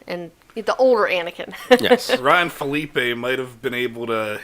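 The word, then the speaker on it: Phillippe: and Ryan Phillips hey I always say his name wrong is it Phillip a or Felipe or I'll go Thalia pronounced Philippe Philippe okay so both of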